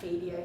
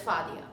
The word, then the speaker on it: Fadia: I'm either Claudia here or FIA here or fadia here or whatever but it's faia okay you can do it I I promise